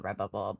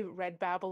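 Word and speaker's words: Redbubble: but or Babble bubble I know I always say it wrong you you say red Babble and Nate loves it he says it all the time now he's like you mean red Babble yep red Babble um yep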